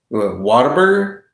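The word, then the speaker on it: Whataburger: Just Just ask someone from Texas what what's uh you want to eat here. Waterburger. Like it's it's just like that's how you say it.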